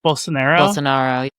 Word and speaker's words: Bolsonaro: So this is former Brazilian president, how do you pronounce his name? Bolsonaro.